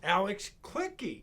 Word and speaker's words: Alex Kliche: you know you're gonna read the name it's pronounced alex clicky yep yeah but you're not clicky no you're